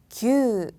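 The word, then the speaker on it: きゅう: 그리고 숫자 9는요. 규, 규. 여러분 큐라고 하면 안 되겠죠. 규 뒤에 장음까지 읽어주셔야 돼요.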